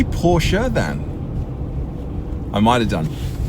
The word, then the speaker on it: Porsche: Did I say Porsche then? I might have done. It's the correct pronunciation, but I always sound incredibly pretentious saying it because I grew up just saying Porsche.